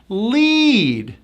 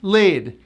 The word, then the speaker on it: lead: This word is a verb with a high E. Lead. Lead. It's not lid. Lid. Have to go high.